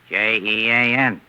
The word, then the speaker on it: Jean: How do you spell the French name, Jean? Jean. And how do you pronounce that in English? Jean.